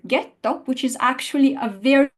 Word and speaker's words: ghetto: of the letter and it's a letter that in Italian is completely silent it does not get any sound but if we insert it between the G or the chi and the following dangerous bble sound we get a reverse effect so in gelato there's no AKA so gelato gets the fo it follows the rule but in the word ghetto which is actually a